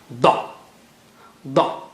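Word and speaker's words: ضاد: So touch the right side of the tongue to the roots of the molars. That is how you say da, da, okay, dad or da.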